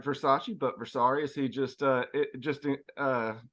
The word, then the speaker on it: Versace: We have our new coach, Adriano Versari, pronounced like Versace, but Versari, as he just told me how to pronounce it.